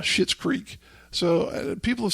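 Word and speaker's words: Schitt's Creek: apparently there's a show called shit's creek it's not spelled like you know pooh creek it's spelled sh or excuse me s-c-h-i-t-t uh shit's creek so people have said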